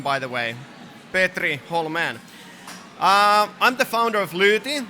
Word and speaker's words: Hollmén: A nice pronunciation, by the way. Petri Hollmén.